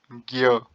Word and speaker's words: ज्ञ: ये जो है, जब हम इसका उच्चारण करते हैं तो हम बोलते हैं ज्ञ। असल में बना हुआ कैसे है? ज ञ अ, ज्ञ। ठीक है, परंतु बोलना मुश्किल है तो हम इसे ज्ञ बोल देते हैं।